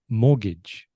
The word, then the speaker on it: mortgage: Mortgage, if you were pronouncing it in Spanish pronunciation. Yes. But it isn't. It's mortgage. So very different to how it's written.